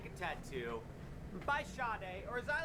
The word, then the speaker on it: Sade: Like a Tattoo by Sade, or as I like to call her, Sade, because it's S-A-D-E.